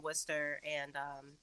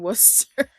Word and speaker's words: Worcester: the way that I'm screaming because I've actually never heard someone pronounce the R in Worcester.